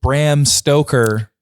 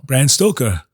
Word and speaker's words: Bram Stoker: of this because of bram stoker bro author bren which he just pronounced his name wrong bran stoker it's bram stoker bram stoker that doesn't